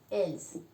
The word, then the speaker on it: ils: nosotros, vous es vosotros, ils, la S no se pronuncia, els, ¿de acuerdo?